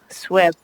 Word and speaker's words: SWIP: two separate areas, so I'm uncertain if the SWIP, as everyone's telling me it's pronounced, would attach to that other work.